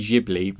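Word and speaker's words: Ghibli: I always pronounce Studio gibli but said I know some people say Studio gibl but I believe the pronunciation is meant to be jibli purely because it comes from an Italian word I can't remember the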